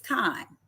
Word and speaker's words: chyme: When the chyme or the chyme, I think it's chyme. You know what? I'm going to put it in my pronunciation thing.